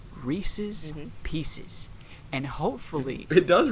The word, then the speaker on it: Reese's: thick ass skulls that maybe, since these things rhyme, and the word that it rhymes with is pieces, then maybe the proper noun in this whole equation is Reese's.